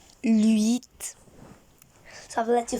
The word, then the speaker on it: huit: So the pronunciation is huit. Huit.